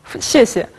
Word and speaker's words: 谢谢: А теперь о тонах. «Сесе». Вы слышите здесь нейтральный тон. «Сесе». Второй еще произносится легким тоном. Попробуйте двумя способами. «Сесе». «Сесе». Во втором случае звучит лучше и легче, не правда ли?